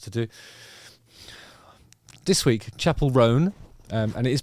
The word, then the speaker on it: Roan: do this week Chapel ran um and it is pronounced ran I've made the mistake of uh saying it as Rowan like a two syllable you know one and a half syllable thing but it's not it's